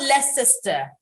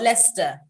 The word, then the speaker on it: Leicester: uh it's about l-e-i-l-e-i-c-e-s-t-e-r it's not less sister but leicester again if you went to